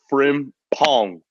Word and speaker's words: Frimpong: I just got to say is 2 syllables, actually. Frimpong, my guy.